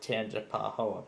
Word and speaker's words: Tangipahoa: one last set of products on replay they pronounce it Tangipahoa Parish yep and the discussion has disappeared but